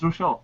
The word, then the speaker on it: Rouchiel: So Rouchiel, am I pronouncing that correctly? Is it Rouchiel or Rouchiel? It's Rouchiel, but the problem is I can't.